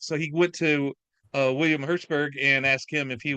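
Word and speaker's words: Hjortsberg: And it's written by the screenplay is written by William Hertzberg, I think is how you pronounce his Hortzberg, last yeah, name. Hertzberg, yeah, Yep. that's correct.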